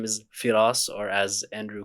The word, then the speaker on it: Firas: than me Faraz hello everyone my name is firas or as Andrew called me Faraz firas did I say it right no it's